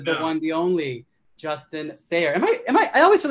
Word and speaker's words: Sayre: This is the one, the only, Justin Sayre. I always feel like I pronounce your name wrong, your last name wrong. Sayre, right?